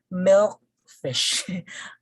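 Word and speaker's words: milkfish: pronounce it no fish so again if a word is a compound noun again it's a composition of two words that are joined together the first component has the primary stress and then the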